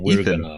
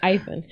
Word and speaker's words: Eithan: Did I pronounce it differently from you? Yes, I say Ethan. We're gonna have a talk. There's an I there. It's Eithan. It's I say it Ethan. Ethan. Okay, Ethan's fine too.